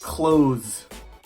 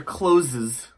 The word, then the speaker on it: clothes: very far number six clothes clothes butcher closes too close now the pronunciation for this word in American English is the same as the word clothes CL OS e like closed the door but I often